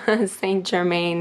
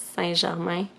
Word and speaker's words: Saint-Germain: So for pile 1, we have initiation in the Count Saint-Germain, Saint-Germain in English, but in French it's Saint-Germain.